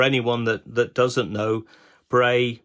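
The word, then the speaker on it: Brea: Um for anyone that that doesn't know Bray is spelled B R E A in this case and that is the Cornish word for hill.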